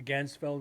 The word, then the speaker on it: Ganzfeld: sensitive don't do it ganzfeld is not easy Gans Feld ganfield Gans Feld let's say it right the Gans Feld experiment yeah it's it's fun